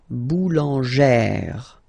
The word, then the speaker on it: boulangère: Remember, when you get this plus this accent grave, you pronounce it like really open sound. Okay, so boulanger, boulanger, and then feminine form, boulangère, boulangère.